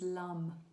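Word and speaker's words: lam: Um so the the mantra or the seed mantra what we call it bja mantra for the root chakra is lum. It's spelled l a m but it's actually pronounced l.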